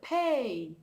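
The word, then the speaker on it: פא: of the letters okay next letter is letter pay pay pay so as you see we have a p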